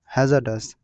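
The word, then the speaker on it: hazardous: आगे देखो यहाँ पर लिखा है हैजार्डस, र साइलेंट रहेगा, हैजार्डस।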